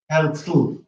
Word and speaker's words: Herzl: So for example, the word Herzl was loaned from Yiddish, and it has this syllabic consonant, Herzl. So the second syllable is tzl.